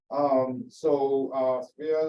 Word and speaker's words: Silvia: Is this the right way to pronounce your name? I'm not. Silvia is the right way to pronounce it.